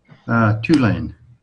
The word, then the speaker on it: Tulane: And you pronounce it? Tulane.